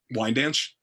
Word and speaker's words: Wyandanch: who was betrothed to chief wyandanch and that's a name familiar to long islanders wine dance wine dance yeah thank you and that version involves